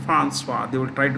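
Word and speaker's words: Françoise: French-speaking people would say Francois.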